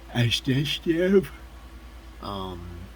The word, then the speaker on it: Adeshev: Ode Osborne versus Sakur Adeshev. Adeshev is how you say his name.